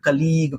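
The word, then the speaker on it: colleague: India में लोग इसको या तो पढ़ेंगे कोलीग खींच के या कोलीग पढ़ेंगे या कलीग पढ़ेंगे। लेकिन सही प्रोनाउंसिएशन कोई नहीं करता। वो होता है कोलीग। कोलीग छोटा वाला लीग।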